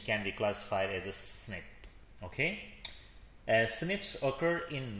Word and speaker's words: SNP: single nucleotide polymeris or Snips a single nucleotide polymorphism or SNP or pronounced as snip is a variation at